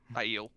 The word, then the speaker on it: Aiel: If he, like, internally, it seemed like he could keep up with this Ale fighting. Aiel, not Ale.